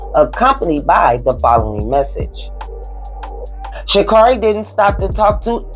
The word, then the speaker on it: Sha'Carri: She pronounced it Sha'Carri, right?